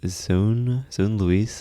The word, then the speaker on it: zonelouise: Today with zonelouise.